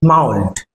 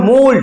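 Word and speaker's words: mould: from the আর্থ লুজেন্ড মাউল্ড এটা মাউল্ড actually মাউল্ড অনেকে বলে উচ্চারণটা মোল্ড হবে মোল্ড কারণ দেখ কোল্ড আছে এখানে কোল্ড মোল্ড কোল্ড মোল্ড thrice রিভাইভস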